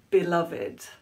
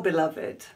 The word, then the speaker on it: beloved: There are two different ways to pronounce this word depending on the context. As a noun, someone you love and are romantically involved with, it is beloved.